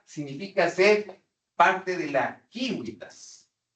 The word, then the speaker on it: civitas: Miren ustedes, efectivamente en el mundo latino, el espacio de la vida pública es lo que ocupa la civitas, así se pronuncia realmente en latín clásico, civitas, que es el equivalente a la polis griega, ¿de acuerdo?